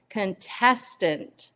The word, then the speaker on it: contestant: the contest, the contestant, there is a shift in syllables. So contest is how contest, the focus is on con. That's our syllable stress, contest. But when we change it and add ant, it becomes contestant.